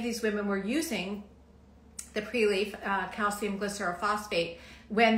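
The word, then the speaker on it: Prelief: Um, the Preleaf, I'm going to spell that. It's P R E L I E F. So, it's pre-leaf.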